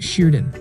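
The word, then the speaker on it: şırdan: a stuffed sheep gallbladder its name is pronounced Sheridan go to radonna and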